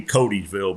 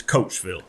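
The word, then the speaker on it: Coatesville: right yes it is it's spelled Co a t s v i l l e so looking at it look like it'd be codyville but it's coachville Coatsville and that's the voice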